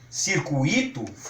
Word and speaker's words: circuito: Então, se as pessoas saírem por aí e quiserem pronunciar intuito, circuito, gratuito ou fortuito, sem problema nenhum. Nós estamos sugerindo que sejam pronunciadas de acordo com muito, certo?